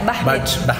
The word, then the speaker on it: Bachmid: Tapi dia pelafalannya beda, Bahmit. Cuman tulisannya Bahmit gitu. Oke, buat kalian semua jangan lupa like, share, subscribe-nya dan di komen ya.